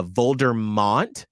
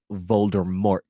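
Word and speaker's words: Voldemort: for instance I was saying for the longest time uh volder mon because for some reason my brain wasn't registering the r even and there's not an N well you're not supposed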